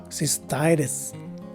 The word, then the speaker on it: cystitis: are regular sounding t's the first letter i is a long i and finally the second letter i is a swa's sounding i so the right way to say this word is cystitis again cystitis this is the